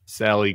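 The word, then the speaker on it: Salleigh: name is it Sally it's spelled yeah spelled Sally but l e i g h Sally grubs in Marietta Georgia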